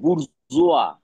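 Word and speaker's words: bourgeois: এ এম ই A frame আচ্ছা next লেখো বুর্জুয়া বি ও ইউ আর জি ই ও আই এস আই ই উচ্চারণটা লিখে নাও বাংলায় বুরজোয়া বয় অসু বর্গীর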